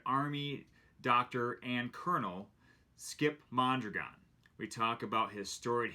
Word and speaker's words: Mondragon: Maybe you can help me out with the pronunciation. Mondragon.